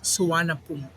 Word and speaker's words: Suvarnabhumi: Suvarnabhumi Airport, or in when you say it in English, you can read as Suvarnabhumi, Hmm. but in Thailand they say it Suvarnabhumi. Okay. Yeah, so they have silent letters when they say the word exactly by their local dialect instead of reading it in English.